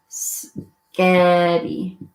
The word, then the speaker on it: spaghetti: And one of the girls orders spaghetti. And the waitress understands her. Biscotti. Why does the waitress understand her? Because of the emphasis. In reality, it's spaghetti, right? Spaghetti.